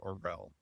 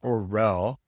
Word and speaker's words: Orrell: If we were in the UK, that would be the perfect pronunciation. It's a place name in England. Very cool. They say Orrell and we say Orrell.